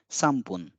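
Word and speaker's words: 三分: will end with poon so here it is San poon but when we pronounce it it becomes sampoon yonpun four minutes five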